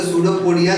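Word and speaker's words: pseudopodia: Flagella, flagella, सूडोपोडिया, सूडोपोडिया, आप देखोगे सूडोपोडिया जो है आपका पी से स्टार्ट है, लेकिन पी साइलेंट होता है।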